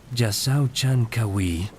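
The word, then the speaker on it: Jasaw Chan K'awiil: La ciudad había caído bajo el dominio de Calacmul, pero ahora bajo un nuevo gobernante dinámico llamado Yasao Chankawi pronunciado Yasao Chankawi.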